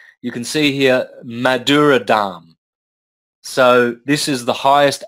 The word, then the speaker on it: Dham: That's spelled D-H-A-M-A. You don't pronounce the last A. So you've got Dham.